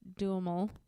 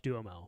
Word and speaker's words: Duhamel: So Katherine Heigl was the one who campaigned to have Josh Duhamel.